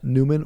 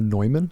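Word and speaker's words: Neumann: to St John uh Newman or noyman depending how you want to pronounce it in Strongsville I was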